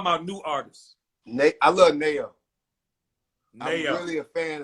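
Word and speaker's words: NAO: I love Nayo. I'm Nayo. really a fan of Nayo. That's a singer. Spell it.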